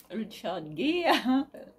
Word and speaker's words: Richard Gere: Richard Gere. On va prononcer à l'anglaise quand même.